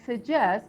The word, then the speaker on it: suggest: and pronunciation so uh the word suggest is a two syllable word and the S now tell me where the stress goes on this word yeah where the stress goes or where is this stress yeah where is it first syllable or second syllable uh let me see is first uh okay second second second yes guys uh I just